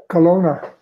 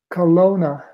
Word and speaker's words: Kelowna: see you too now how is the town pronounced in the native language Kelowna say that one more time Kelowna Kelowna so and are there still any Grizzlies around